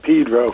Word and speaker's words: Pedro: You know, uh, here we call it Pedro for some reason. Pedro? Yeah. Is that how it's actually pronounced?